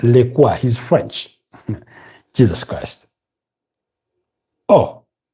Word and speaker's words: Lecoix: been scored by Maxence Lecoix. I used to read that name as Lacroix, something like that, but it's Lecoix.